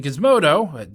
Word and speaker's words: Gizmodo: On December 9th, 2019, Gizmodo, I think it's pronounced with a guh rather than a juh, reported that by analyzing